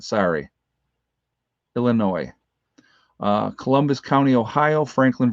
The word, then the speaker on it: Illinois: mesa arizona illinois oh illinois the s is silent sorry illinois uh columbus county ohio